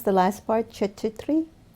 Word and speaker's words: Chaturthi: How do you pronounce the last part? Chaturthi? Chaturthi. Chaturthi.